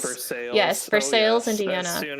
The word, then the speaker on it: Versailles: I think I had a friend who was from Indiana, and he said there is a place called not Versailles, but you pronounce it Versailles. Versailles.